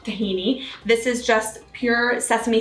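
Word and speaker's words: طحينة: little bit more so tani is that's the arabic pronunciation of tahini this is just pure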